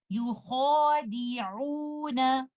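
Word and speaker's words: يُخَادِعُونَ: तो इसको properly pronounce हम इस तरह से करेंगे, युखादिऊन।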